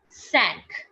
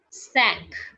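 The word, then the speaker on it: cinq: number is five and five in french is being written down as c i n q and which is pronounced as sank sank which is pronounced as sank sang okay after five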